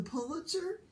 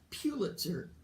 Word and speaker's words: Pulitzer: says you won the Pulitzer Robert said it's not Pulitzer its Pulitzer I've been wrong all these years I mean how many